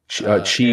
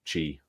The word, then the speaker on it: Qi: it's pronounced Q it's it looks like it's called Qi but it's pronounced Chi they could certainly Implement